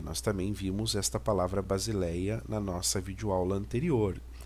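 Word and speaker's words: βασιλεία: com som de s base Léia que nós temos o lambda com som de L né Aqui nós temos o Epson e ota e o alfa base Léia e a próxima imagem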